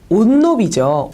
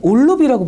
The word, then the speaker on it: 옷로비: 자, 그러면 뭐라고 발음하는 게 더 일반적일까요? 그렇죠. 옷로비죠. 올로비보다는 옷로비가 더 일반적인 경향에 맞는 발음이에요. 자, 그런데 왜 사람들은 올로비라고 발음할까요?